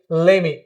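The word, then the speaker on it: let me: In place of that now we will say ले मी। T totally साइलेंट हो जाएगा।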